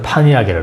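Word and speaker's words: Pontiac: 그래서 이제 우리 아들이 운전면허를 시험 공부하거라 해서 따가지고, 그때 이제 여기서 한국말은 폰티악이라지, 폰티악. 미국에서는 파니악이라고 그러는데 미국식 발음을 하면 폰티악이라고 해서 GM 차예요.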